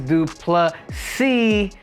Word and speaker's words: Du Plessis: Tri Sean Strickland versus drus d plus C with the silent s Guys these guys have